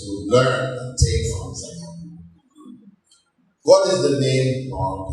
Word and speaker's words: zakah: Zakah, or zakat, properly in Arabic it's pronounced zakah. Non-Arabs will often say zakat, with the T at the end.